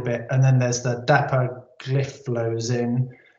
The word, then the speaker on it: dapagliflozin: And then there's the dapagliflozin. That's exactly how you say it.